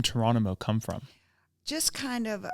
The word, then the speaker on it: Touronimo: okay so I know some people think it's tyrano it's not it's torono um pronounced like torono so came up with that started putting all